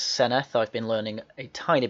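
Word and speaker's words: Senedd: yes the senate yes you do say it's seneth i've been learning a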